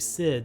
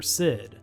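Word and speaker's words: Cid: airships mughals chocobos bahamuts and a character named sid spelled with a c you might remember a few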